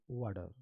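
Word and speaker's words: water: गौर से देखिए और बीच में टी आया है तो इसका उच्चारण थोड़ा फास्ट भी करना है तो क्या पढ़ेंगे वाडर क्या पढ़ेंगे वाडर हम लोग क्या करते हैं बिहार कर खासकर बच्चे लोग य टी को हेवी ट पढ़ देते हैं तो क्या पढ़ते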